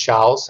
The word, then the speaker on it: Chaos: You write it as Chaos, but it's actually pronounced Charles.